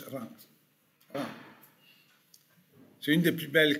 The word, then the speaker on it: Reims: Ça s'appelle Reims, mais c'est une... Voilà. On prononce Reims.